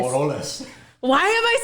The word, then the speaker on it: Moroles: Morales. Wait, is it Morales or Moroles?